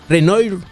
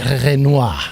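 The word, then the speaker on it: Renoir: es una obra de Reno al es la pronunciación se llama después no no no es reno es renois renois Ah perdón FR y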